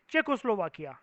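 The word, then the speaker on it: Czechoslovakia: ये कंट्री का नाम है, इसकी प्रोनाउंसिएशन इज लाइक चेकोस्लोवाकिया, ठीक है? शीशे के सामने खड़े होकर प्रैक्टिस करना, अपने आराम से बोलना सीख जाओगे, ठीक है? चेको स्लोवाकिया, स्लोवाकिया को अलग कर दो, और चेको बोलते हैं इसको, चेको, जेड इज साइलेंट, चेको।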